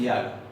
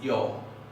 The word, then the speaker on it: jag: Y los suecos lo escriben así, pero no dicen jag, dicen yo, yo, no por influencia de nuestro yo, nada que ver, pero dicen yo, una A que tiende hacia la O.